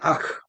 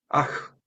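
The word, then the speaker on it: אח: 있어요 보내다 꺼지다 그다음에 아크 아흐 자 뒤 두 번째가 트죠 해가 아니에요 아가 아니라 아 약간 센 발음이 되겠죠 형제라는 뜻입니다 그다음에 바트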